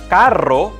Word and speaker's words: carro: meaning of the word karo means expensive while carro means car perro means but while perro means